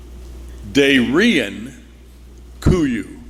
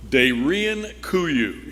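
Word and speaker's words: Derinkuyu: It's pronounced, I believe, Darian Kuyu. Darian Kuyu.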